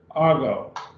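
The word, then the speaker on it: ἄγω: i'll go i'll go notice the accent is on the alpha argo and now we would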